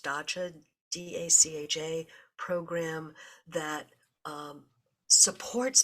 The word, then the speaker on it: dacha: Russia has always had this I think it's pronounced dacha d-a-c-h-a program that um supports backyard gardening so